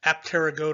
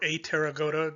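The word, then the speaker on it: Apterygota: a formal taxonomic name apteragoda or a taragoda depending on whether or not you want to pronounce that p in there the name itself simply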